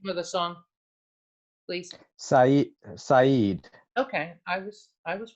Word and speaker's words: Saeed: Can you pronounce the name of the song, please? Saeed.